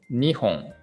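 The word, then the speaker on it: 二本: the word before home so in this case the pronunciation actually changed a little bit so in case of two trees two trees we say nihon nihon okay nihon so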